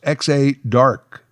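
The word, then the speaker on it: Exa Dark: I believe that name is pronounced X-A Dark.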